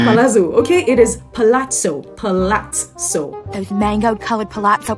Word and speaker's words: palazzo: no it is not Palazo okay it is pazo patoo those mango colored pazo pants that made